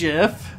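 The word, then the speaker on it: GIF: It's pronounced Jif.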